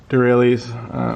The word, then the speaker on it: Derale: So we're using Derale's hose they provided. How do you pronounce it again?